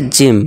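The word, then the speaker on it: gym: य ठीक कर लीजिए जी जी वाई एम ये जिम ठीक है दोस्तों जिम अब ये बड़ी इ की साउंड निकालेगा जैसे कि सॉरी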